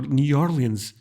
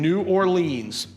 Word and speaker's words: New Orleans: for pronouncing New Orleans that's just this accent is from New Orleans my friends or new orans oh wow I would never guess this way that we say it in my neck of the woods and then the two that you should never ever say will be nin and New Orleans who gets a pass